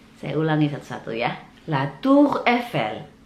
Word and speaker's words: La Tour Eiffel: Itulah 10 tempat di kota Paris dan bagaimana cara bacanya. Saya ulangi satu-satu ya. La Tour Eiffel, la Tour Eiffel, la Tour Eiffel, les Champs-Élysées, les Champs-Élysées, les